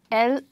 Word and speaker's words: lead: what is lead so a lead is a heavy metal it's actually the heaviest metal and it is a noun and we pronounce this word as led and this one as